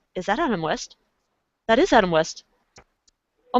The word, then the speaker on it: Adam West: was so starstruck that I almost mispronounced his name, was Adam West. Oh my goodness, that is And I almost said Adam Wee because of Family Guy.